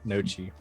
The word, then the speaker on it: gnocchi: I have not eaten Nochi. I said it wrong to make you mad. I know what Noki is. It's actually, isn't it Jewish? But there's no G in it.